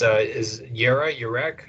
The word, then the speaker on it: Jerah: Is Yerek is how you say this, Jera, and this means new moon.